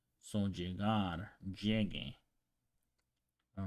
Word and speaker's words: llegue: If you see llegue with GU replacing the G, it is to maintain the hard G sound. Okay, so the reason why they're doing this is because otherwise, if you pronounce llegue without the U over there, it will be pronounced llege because of rules that we learned before. So the G before the E or the I is pronounced more like an H in English.